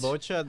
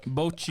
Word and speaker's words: Bocchi: Bocha the Rock? Bocchi. I'm gonna attempt Oh, this pronunciation.